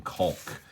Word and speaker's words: caulk: I'm very, very determined to pronounce the L in caulk.